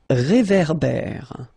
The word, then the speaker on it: réverbère: Final E not pronounced. Un ré. So here you've got this accent aigu, et. And then here you've got this accent grave, E. Okay, et, et. So it goes like réverbère.